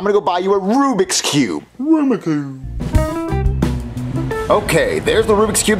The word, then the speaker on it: Rubik's Cube: storm arumaku are you saying Rubik's Cube no Aruba Cube Jeffy it's pronounced Rubik's Cube no it's Aroma Cube Marvin you know what he means stop agitating